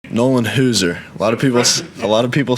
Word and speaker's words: Hauser: Nolan Hauser. A lot of people say Hauser. I mean, it's pronounced Hauser.